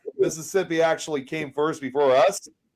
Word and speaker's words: Mississippi: You didn't say all the S's. It's Mississippi. Mississippi. Mississippi.